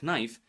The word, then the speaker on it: knife: If you say these words incorrectly, like in the beginning of the video, I said knife. Of course, it's not knife. It's a knife. K is a silent letter in this case.